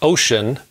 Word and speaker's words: Wouxun: to how i have been liking the wuksun pronounced ocean kg 805 g gmrs radio i've had the